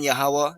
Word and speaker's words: Yahuwah: one's ability believing in yahuwah that he exists that's his name that's how you pronounce it in the paleo hebrew believing in yahweh that